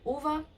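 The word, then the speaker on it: Ove: Eu finalizei um audiobook, que é o do Frederick Backman, A Man Called Uva, né, um homem chamado Uva, mas se escreve Ouve.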